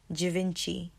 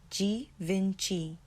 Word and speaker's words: Givenchy: like normal growing up now the correct way I'm going to say it again jinci jinci jinci G Vinci G Vinci the next one I